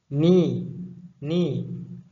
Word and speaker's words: knee: یکم ear گوش، neck گردن، arm بازو، elbow orange، back میان، head سر، teeth دندان ها، chest قفس سینه، knee حرفی که رو تلفظ نمیکنیم، knee زانو، leg پای